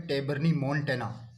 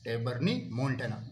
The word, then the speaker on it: Tabernaemontana: इस प्रकार का इंट्रापिट्यूलर स्टिप्यूल जो है चांदनी में पाया जाता है, सफ़ेद चांदनी का बोटेनिकल नेम है टेबर्नी मोन्टेना। टेबर्नी मोन्टेना, मैं स्पेलिंग बोल देता हूँ, TABERNAEMONTANA, टेबर्नी मोन्टेना में पाया जाता है।